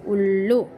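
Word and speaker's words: उल्लू: Okay, so ullu, u, symbol of u is used, that's why we pronounce it as ullu.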